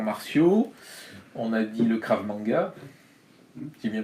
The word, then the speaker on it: Krav Maga: On a dit le Krav Maga. J'ai bien prononcé? Tout à fait, Krav Maga.